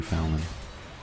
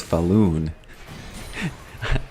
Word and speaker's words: Fallon: It was Jimmy Fallon. Or as my wife says, she says Falloon. And I say, "Hey, have you ever heard anyone pronounce it like that?" She doesn't care. Almost like a balloon, you know.